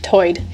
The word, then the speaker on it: tide: One interesting feature is that Lumby English speakers share vowel sounds present in the Outer Banks accent, where tide is pronounced toid.